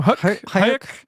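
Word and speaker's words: Huyck: Hayek.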